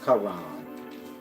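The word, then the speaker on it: Charon: koran c-h-a-r-o-n for some reason they pronounce it karen but that's after acheron mean the river but it's pronounced acheron and his name is karan and you get my point these rivers lead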